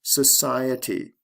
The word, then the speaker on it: society: Social, society. Stress goes from the first to the second syllable.